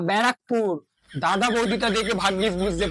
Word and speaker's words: ব্যারাকপুর: ওটা ব্যারাকপুর না, ওটা ব্যারাকপুর, ব্যারাকপুর।